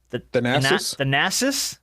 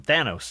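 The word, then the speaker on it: Thanasis: The Nassis. Is that it? Yeah, I almost called him Thanos.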